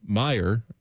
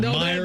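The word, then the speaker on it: Meijer: Like when people say Kroger or Kroger's or Myers. That's kind of just an Ohio thing. Just but it's not what it's called. No, it's not. Meyer.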